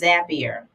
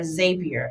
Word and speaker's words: Zapier: And then last but not least, I feel like this is the queen bee of AI, and that is Zapier or Zapier, however you want to pronounce it. Zapier is a integration tool.